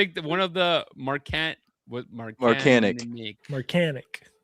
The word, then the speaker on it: Marcanic: different, and he's like, oh yeah, no one knows how to say it right. It's like Marcanic. He's like, it's Marcanic.